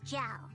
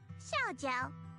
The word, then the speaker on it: Xiao: Stop calling me Miss Jiao. It sounds weird. Just call me Shiao.